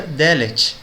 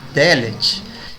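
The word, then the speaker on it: דלת: E porta em hebraico se pronuncia Delet. Veja que muda só o A para E. Dalet, Delet.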